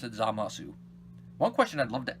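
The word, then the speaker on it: Zamasu: Yui salient eating Japanese yes I know it is silent but the dub is pronouncing the U so since this is more based on the dub I'm gonna pronounce as amo su one question I'd love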